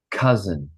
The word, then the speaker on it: cousin: Cousin, Cousin. cousin, Cousin. cousin. Cousin. Yeah, and it sounds like this. It's got like the Z, cousin, Cousin.